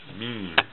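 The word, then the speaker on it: م: have the letter mean mean okay and the letter mean it looks like this mean and mean it makes the sound like the english letter m m okay initial meme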